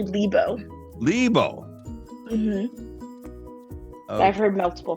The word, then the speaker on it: Lebow: her name is lebeau yeah welcome to the studio thank you thank you for having me is it is your last name lebeau or uh it's actually libo libo i've heard multiple